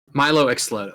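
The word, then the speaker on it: Mylo Xyloto: Xylodo? Milo Xlodo, yes.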